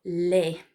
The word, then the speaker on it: les: We also see it in the ES at the end of a word. For example, les, the plural word for the.